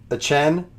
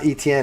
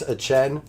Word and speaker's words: Etienne: You just pronounce it Etienne. It's not ETN, it's Travis Etienne.